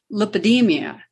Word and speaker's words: lipedema: Like, for instance, 11% of the women have lipedema.